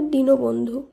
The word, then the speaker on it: দীনবন্ধু: দয় দীর্ঘি দন্তন্য বদন্ত নয় ধৈর্য দীনবন্ধু না, এটি ভুল উচ্চারণ, এর শুদ্ধ উচ্চারণ হবে দীনবন্ধু।